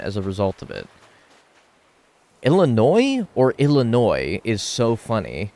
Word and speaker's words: Illinois: pronounce the s in Illinois no you don't pronounce the S it's a silent s just like you don't